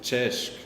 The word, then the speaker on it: CESC: But then the question is, why do we pronounce it CESC? Probably if it should be written correctly, we would have to put a hat checker somewhere to make it sure. But somehow I think back then when we first first conceived this event, we Austrians just thought this looks like we should pronounce it with a ch.